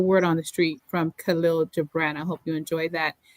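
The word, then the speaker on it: Kahlil Gibran: So that is the word on the street from Khalil Gibran.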